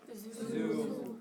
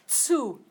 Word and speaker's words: zu: Zoo. Okay. Zu. Try that. Zu. Yeah, you gotta have the tss. Otherwise it's a different word.